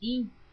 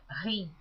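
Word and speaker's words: him: por Neuza Baldini, que esta palavra hin está escrita H-I-M. Algumas pessoas pronunciam rim. Eu pronuncio como está escrito hin, porque a Bíblia que eu estou lendo é em português, toda leitura em português.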